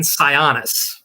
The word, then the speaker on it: Sionis: answer was Roman Sionis.